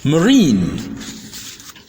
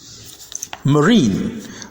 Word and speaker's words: marine: despite the silent e I in these words refuse to be sounded I rather it prefers to be sounded e therefore the first word is pronounced Marine Marine then ravine Ravine then